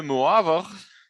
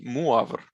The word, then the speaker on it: Moivre: they're separate, but okay, Moivre. Okay. His name is French, so they don't, so those E and S, they don't pronounce it, okay? And this O and I is pronounced UA.